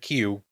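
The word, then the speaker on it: queue: like that the word q like q q up yes Q up up you're in a que you're in a q is the letter Q followed by four silent letters oh dude that's crazy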